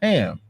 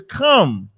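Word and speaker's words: חם: Don't use the Abraham, because Ham in Hebrew is come.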